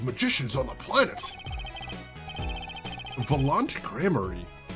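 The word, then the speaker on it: Gramarye: So, he actually does pronounce it right there. So, it is Grammar.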